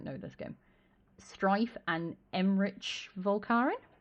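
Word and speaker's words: Emmrich: this game, Strife and Emrich Volkaren? Emric? Is it Rick or Rich? Rick. Okay. I haven't played the game. No, it's Rick.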